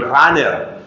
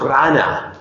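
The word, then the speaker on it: Rahner: del siglo pasado Runner decimos en español Runner pero si usted va a Alemania y usted dice Runner no no le entienden porque ellos pronuncian más o menos Rana rana eso muy bien entonces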